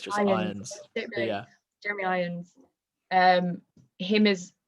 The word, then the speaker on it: Irons: Irons, I'm pretty sure it's just Irons.